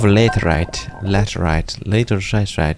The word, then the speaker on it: laterite: Bunch of laterite. It's pronounced laterite.